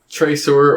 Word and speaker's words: traceur: okay thank you uh traceur or just person who does partial tracer yeah that's awesome it's spelled like tracer but you are at the end because it's french because yeah it's sprinkled